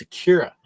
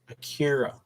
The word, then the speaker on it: Akira: No, it's Akira. I keep saying it wrong. Akira.